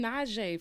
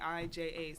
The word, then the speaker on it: Naija: Can Well, I, how do can you I pronounce admit her name? something? Naija? Naija. Can I admit something? Why I've been Naija. saying Najee from Mad I Long?